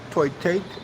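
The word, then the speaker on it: tôi thích: I like eating pussy it's toy take like toy like Toy Story take it's that spell that way it's t o i t h i c h toy toy take Liam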